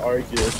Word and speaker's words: Arceus: Yeah, Arceus.